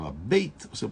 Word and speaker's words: Beit: Se eu falo ela pronunciar ela Beit, ou se eu pronuncio ela Beit. Em hebraico essa letrinha pode ser pronunciada também como V. Além de B, ela pode ser pronunciada como V.